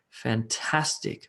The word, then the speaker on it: fantastic: a three syllable word like fantastic fantastic fantastic and the emphasis is on the on the middle of syllable helicopter as we saw